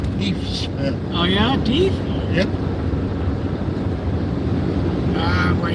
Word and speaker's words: Deaf Smith: There's a county called, it's spelled Deaf Smith, but they pronounce it Deef Smith.